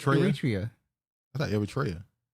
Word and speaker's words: Eritrea: as Somalia, Liberia, Ethiopia, Kenya, Nigeria, Sudan, and Eritrea.